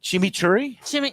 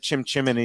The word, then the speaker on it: chimichurri: Well, chimichurri? You said it right. Chimichurri. This time I said it. Okay. Before I said it, chimney.